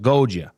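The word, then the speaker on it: Goggia: Now it's spelled G O G G I A but it's pronounced Goa.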